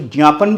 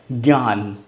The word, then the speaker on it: ज्ञान: बोला जाता है इसको ज्ञापन बोला जाता है ज ञ का साउंड आता है बिल्कुल नहीं आता वहां पर क्या पढ़ा जाता है ज्ञान ज्ञापन यज्ञ यज्ञ ठीक है कुछ संस्कृत के शब्दों में इस तरह से आता है बट वो बहुत कम है 10 से 15 पर 20 पर ही ज का साउंड करता है ज्यादा तर किसका साउंड करता है ज्ञ का ठीक है शायद आपको इस